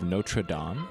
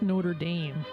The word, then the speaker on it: Notre Dame: Dude, is that the fame cathedral of Notraam? Probably. It's pronounced Notre Dame, the college.